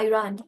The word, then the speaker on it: Iran: Alright, so আমরা বাংলায় বলছি ইরান, but the correct pronunciation is Iran. আমার বাচ্চারা সবসময় আইরান বলে।